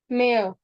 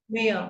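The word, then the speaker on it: mehr: It's may mayor. Mayor. So we see that H is silent. No. Mayor. Mayor.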